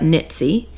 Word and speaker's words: Knitsy: This is by Knitsy Blonde, spelled like Ditsy, but Knitsy.